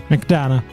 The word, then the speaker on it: McDonagh: How do you pronounce your last name? Make sure I say it right. Mcdana.